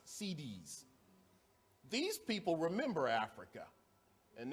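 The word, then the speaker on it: Siddis: Not like CD, it's spelled S-I-D-D-I-S, CDs.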